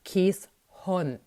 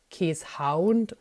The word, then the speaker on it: Keeshond: ich jetzt mal loswerden der Name käshond spricht sich eben käshond ganz falsch ist die Aussprache kä Hound oder noch schlimmer kieshound ein haound ist ein Begriff aus England der Jagd und Meutehunde wie biegels bezeichnet und noch viel fürchterlicher ist die Aussprache kisont die ich schon mehrmals aus Amerika gehört habe das ist sowas von falsch kä hont heißt das